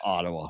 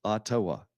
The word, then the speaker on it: Ottawa: that's right yeah Ottawa no it's Ottawa tawa yeah Ottawa I guess that's the way you're supposed to say it with an accent on the second syllable that's the proper native